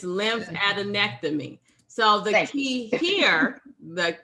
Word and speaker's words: lymphadenectomy: removal oh is lymph fat lymph i can't pronounce it yes it's lymphadenectomy so the key here the key here is